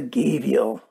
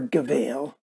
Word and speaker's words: gavial: so there you go there's the gabial or gavail depends on which pronunciation you're using let's do a size